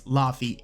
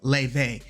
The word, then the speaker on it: Laufey: So a lot of people who see her name probably think her name is Laufey, Laufey, but it's Laufey.